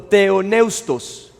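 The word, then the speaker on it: θεόπνευστος: Entonces, es una palabra que la pronuncian como teoneustos.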